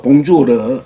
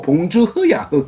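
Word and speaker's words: bonjour: 그래서 봉주르 하면 봉주르 이렇게 발음하는데 제가 한 달 반 정도 프랑스 가서 들어보니까 봉주르가 아니고 봉주흐야.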